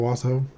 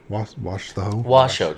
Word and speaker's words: Washoe: Paul always called it the Washoe Club. So that's just what I knew it as, the Washoe Club. No extra syllables. Yeah, no letter A's.